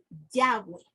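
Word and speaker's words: Yahweh: inglés sería y H w Y eso se pronuncia como yagüe pero aquí vamos a ver que hay la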